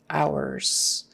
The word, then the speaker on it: hours: a z sound visiting ours o u r is our like o w e r kind of our and h is silent don't forget no h